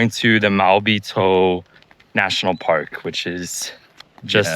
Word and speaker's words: Maobitou: Now we are exactly in Maobitou, which is the southernmost point of the island of Taiwan.